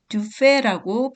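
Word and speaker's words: Dufay: 두 사람의 중요한 작곡가 중에서 먼저 듀파이를 보겠습니다. 듀파이는 듀페라고 프랑스식 발음으로 불리기도 해요.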